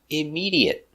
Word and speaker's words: immediate: sounds immediate immediate immediate four syllables stress on the second syllable immediate immediate immediate he